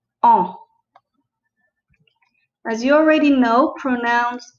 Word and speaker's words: en: understanding how to use the pronoun e n which is pronounced o as you already know